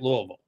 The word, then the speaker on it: Louisville: A fellow fellow Louisvillian, and you said it right, Louisville.